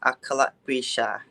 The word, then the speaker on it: Akarapreecha: your last name because i'm probably going to mispronounce it hi my name is and my last name is akala bisha okay i knew i wouldn't be able to